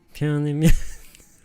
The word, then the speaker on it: 평양냉면: 평 하실 때 이응 발음에 약간 비음을 넣어 보신 편하게 발음하시는 거. 평양냉면.